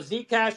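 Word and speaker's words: Zcash: folk of said cash or how do you pronounce it so Z cash was basically a fork of Bitcoin we forked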